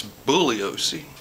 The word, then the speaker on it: Bugliosi: And Bugliosi, and that's Bugliosi, Bugliosi, Bugliosi, Bugliosi. Anyway, Bugliosi, I don't even think he knew who she was. Anyway, back to Bugliosi.